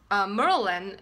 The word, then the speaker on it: Maryland: here so um Marilyn the reason i'm pronouncing Merlin instead of maryland this is very funny because i am i'm a linguistics major at georgetown and we will learn how to pronounce different sounds and an accent so people from DC from actually there when if they're from this area and it pronounced Maryland instead of Maryland and they pronounced Merlin so which is very